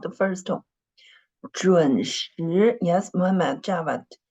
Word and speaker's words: 准时: 准时, yes, Muhammad Javid. The tone of the second syllable was wrong. It's not the first tone, it's the second tone.